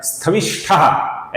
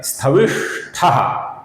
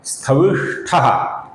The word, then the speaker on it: स्थविष्ठः: कुछ लोग इसका उच्चारण स्थविष्ठः ऐसा करते हैं जो कि गलत है। इसका सही उच्चारण है स्थविष्ठः, स्थविष्ठः।